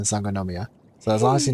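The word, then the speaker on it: Sangonomiya: difficult but if you just follow the syllables like son son go no yeah there's five syllables in s nomia so as long as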